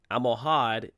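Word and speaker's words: Almohad: inside the al-muravid caliphate amohad is the spanish sounding of al-muhawidin which means listen you try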